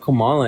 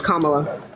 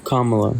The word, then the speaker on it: Kamala: don't know I watched PL of interviews about Kamala and like I that's how you pronounce her name repeating the same hey hey hey that's not how you pronounce her name it's Kamala oh Kamala yeah okay right so what interviews are you